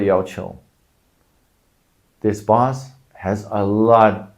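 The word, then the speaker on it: 要求: But with 求 before it, the tone changes. That's what Chinese characters do sometimes. The pronunciation changes or only the tone changes. So in this case, 要 first tone, 要求.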